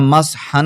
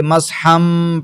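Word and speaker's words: مَسْحًا: तजवीद की इस्तलाह में अगर नून साकिन या नून तनवीन के बाद बा आ जाए तो नून को मीम से बदल कर पढ़ते हैं। तो यहां मसहन नहीं पढ़ेंगे। मसहम पढ़ेंगे।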